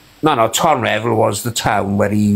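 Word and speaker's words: Tonyrefail: I'll tell my hometown, because I'm not there no more, Tonrev or Tony Revile, it's spelt.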